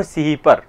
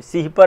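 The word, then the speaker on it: सिपिहर: यह है आपकी नूह सि पर एक पुस्तक नहीं सि पर नहीं सिपर है यहां पर थोड़ा सा इसको सुधार कर ली प्रोनाउंस सिहर नू सिपर दूसरी पुस्तक है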